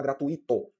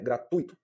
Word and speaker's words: gratuito: Da mesma forma também eu não vou falar gratuito, que o correto é gratuito, tá? Então quando se fala gratuito, né, a gente cometeu um erro quanto à pronúncia, certo? Correto é gratuito, assim como intuito e fortuito, tá?